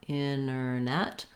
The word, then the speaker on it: internet: For internet, same thing. We have first syllable stress. Our T is optional. We have an unstressed and then it's just like the word net, which has the or red tent vowel.